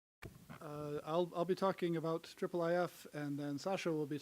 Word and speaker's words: IIIF: more efficient that way so triple if' and that is the official pronunciation I believe came along